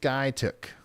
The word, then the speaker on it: Skiatook: It's pronounced Skytook. My bad.